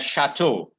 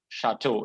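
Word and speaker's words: château: that's correct that is correct thank you you pronounce this word as chateau all right chateau is how you pronounce this particular word okay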